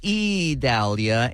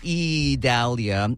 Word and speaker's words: Idalia: an eye storm but it is uh pronounced E Dahlia and I keep having